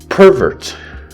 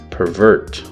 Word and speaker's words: pervert: A similar thing can happen in other words, such as pervert, pervert, overflow, overflow, etc. So you just change the stress.